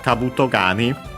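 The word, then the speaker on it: 兜蟹: The accent of Kabuto Gani as a whole is on the last mora of Kabuto.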